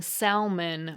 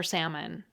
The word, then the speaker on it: salmon: That's the phenomenon where speakers pronounce a word according to its spelling, like saying salmon with an L for salmon.